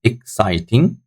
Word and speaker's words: exciting: Number five also has got three syllables. Exciting. So like exciting, exciting, exciting. So second syllable is stronger than the other syllables. So second syllable is highlighted to show that it's taking the stress on, guys.